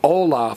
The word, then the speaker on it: hola: The only silent letter in Spanish is H, which is why we say hola for hello and not hola.